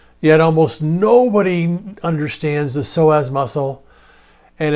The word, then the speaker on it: psoas: So, the psoas muscle, it's spelled p s o a s, you don't pronounce the p.